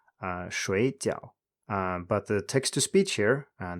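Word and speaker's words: 水饺: 水饺水饺 Borderline not correct, but I would say that it's supposed to be pronounced 水饺, 水饺.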